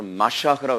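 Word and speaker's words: מָשִׁיחַ: 히브리어로 더 정확한 발음으로 마샤크라고 그랬는데 예수님만이 메시아다.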